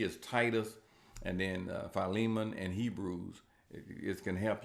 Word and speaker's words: Philemon: Some say Philemon, but it's pronounced Philemon.